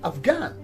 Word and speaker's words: Afghan: while in some other words for example in afghan here the edge is silent in ghost h is silent in spaghetti